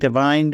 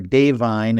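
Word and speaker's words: Da'Vine: I think Divine, or Dave Vine, as they like to pronounce it, Joy Randolph, is almost a lock for Best Supporting Actress.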